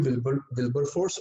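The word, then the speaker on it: Wilberforce: मैंने नाम की स्पेलिंग लिख दी यहाँ पे, William विल्बर फोर्स, WIL will, BER बर, FORCE विलियम विल्बर फोर्स, और दूसरा नाम है चार्ल्स ग्रांट।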